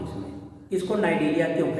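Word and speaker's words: Cnidaria: सी silent होता है इसमें, नाइडेरिया।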